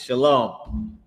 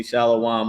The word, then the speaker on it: shalom: It's shalom. And some people pronounce it wrong and they say shalawam or whatever but they pronouncing it wrong but that's the word it's shalom.